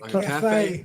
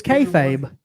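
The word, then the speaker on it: kayfabe: it yeah KFA yeah Cafe Like You Gotta Eat I thought it was kfabe Cafe no Cafe k-a-y-f-a-b-e you pronounce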